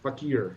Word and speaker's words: fakir: Like, some of them were fakers and some of them weren't. Faker, Fakir. Yes, fakir, right. You pronounce it however you want.